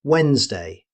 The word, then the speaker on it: Wednesday: Although there's a D in the spelling, native speakers simply say Wednesday. The D is completely silent.